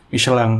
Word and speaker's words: Michelin: Ya, pengucapannya gitu tuh katanya, Michelin. Yang benar Michelin.